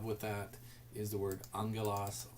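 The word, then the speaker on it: ἄγγελος: But angelos, and that's the word, that is actually the word we'll get for angel, but that's a gamma nasal. The first letter there is pronounced as an N.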